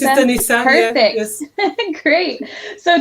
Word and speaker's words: Denisa: Am I pronouncing that correctly? Yes, it's Denisa.